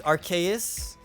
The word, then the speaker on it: Arceus: say arceus i say arceus apparently their property is archaious everybody says arceus it doesn't make any